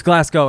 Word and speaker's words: Glasgow: is a glass gower glass go glasgow it's glasgow and i said yeah like